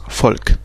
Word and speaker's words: Volk: Par exemple, le V qui se prononce F, donc V. Donc par exemple, comme on a dit, le mot folk, ça s'écrit avec un V, mais ça se prononce folk, peuple, comme Volkswagen.